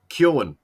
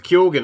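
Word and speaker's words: Keoghan: for everyone anyone listening so many podcasters don't get it right kyoen is bush he himself says that he's probably pronouncing it wrong but he puts the g in yeah so he says the g says kyogen i guess like i don't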